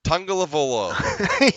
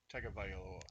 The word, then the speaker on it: Tagovailoa: It's Tungavaloa. Tungavailoa. You can't even say it right. Tungavailoa. Nope. Tagovailoa. Tagovailoa.